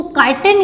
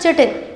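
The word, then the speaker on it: chitin: तो हम पढ़ रहे हैं जो फंगस की सेल वॉल होती है उसको काइटिन या फिर चिटिन, लोग डिफरेंट तरीके से इसका प्रोनाउंस करते हैं।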